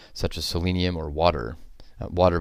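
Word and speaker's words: Watir: Water, by the way, is spelled W-A-T-I-R.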